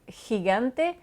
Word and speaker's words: gigante: Donc, avec l'exemple gigante, vous voyez que le G se prononce encore une fois différemment selon la voyelle qu'il précède. Donc, si le G est avant le E ou le I, c'est le bruit de gorge de l'air qui sort, G, donc gigante, gente.